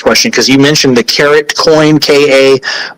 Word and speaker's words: Carrot: that's a great question some may pronounce it car rat but that is not the way to pronounce it it is Carrot um and actually this